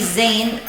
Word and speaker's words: Zane: These should come in handy, Zane. Pronunciation rhymes with rain.